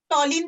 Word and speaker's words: toluene: क्लोरोटोलिन भी कह सकते हो, टोलिन बोलते हैं उसको, अच्छा वाला करेक्ट वाला प्रोनाउंसिएशन, क्योंकि उसके अंदर क्लोरीन को नंबर 1 मिला है।